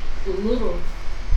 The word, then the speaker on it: Uluru: I couldn't pronounce Uluru. the Aboriginal name. Uluru.